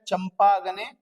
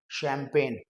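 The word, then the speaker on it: champagne: अब देखने में तो ऐसा लग रहा है चंपा गने इस तरीके का कुछ लिखा हुआ है बट the correct pronunciation is शैंपेन वही जो बोतल खोली जाती है दैट इज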